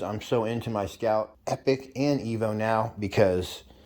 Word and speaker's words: Epic: Those of you who want to add digital gauges to your Epic or Evo, and it's pronounced Epic, not Epoch.